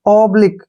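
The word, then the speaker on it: oblique: करेंगे हम सिंपल है ओ बी को हम ओ पढ़ेंगे और एल ई का उच्चारण ली हो जाएगा ठीक है और क्या यू ई का उच्चारण हम यहां पर क के रूप में करेंगे ठीक है ना ऑब्लिक क्या पढ़ेंगे इसको ऑब्लिक बहुत इंपोर्टेंट है ऑब्लिक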